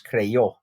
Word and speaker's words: creyó: And this basically shortens this word into 2 syllables. Instead of saying creyó, it's creyó. And that's why we do that Y-O accent.